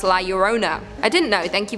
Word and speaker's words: La Llorona: Anadem9 said, for anyone who cares to know, La Llorona is actually pronounced La Llorona.